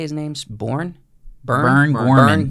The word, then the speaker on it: Burn Gorman: Burn Gorman. Burn Gorman.